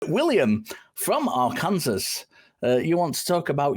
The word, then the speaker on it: Arkansas: But yeah, no, my dad, he was raised Roman Catholic here in Arkansas, and that's how you pronounce it.